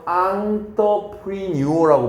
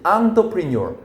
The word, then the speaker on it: entrepreneur: 그러면 여기 이 단어는 발음을 어떻게 하는 거냐면 entrepreneur라고 발음하는 거야. 발음 어렵지? entrepreneur.